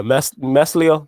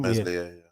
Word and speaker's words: Meslier: Meslier, is that how you pronounce his name? Meslier, yeah.